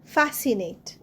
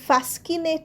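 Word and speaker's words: fascinate: এন এ টি ই ফ্যাসিনেট ফ্যাসিনেটেও দেখো সি উচ্চারণ হচ্ছে না আমরা কিন্তু ফ্যাসকিনেট বলছি না ফ্যাসিনেট বলছি ফ্যাসিনেটে সি উচ্চারণ হবে না তো ফ্যাসিনেট হবে এস আই এর উপর সিটা দেবে যাচ্ছে ফ্যাসিনেট মানে আকর্ষণ করা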